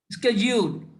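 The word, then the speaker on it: schedule: शेड्यूल का pronunciation क्या है, कोई बता सकता है? शेड्यूल। स्केड्यूल।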